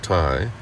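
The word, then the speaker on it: Thầy: us in our explorations thai an informal title for the teacher pronounced tai offered several talks on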